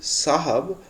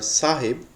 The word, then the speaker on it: साहब: So this is sahab or sahib. There are two or more pronunciations for this word. It's up to your likeness.